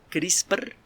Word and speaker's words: CRISPR: Se escribe como suena, CRISPR, así como crispado, CRISPR, y luego una diagonal y luego Cas, C-A-S.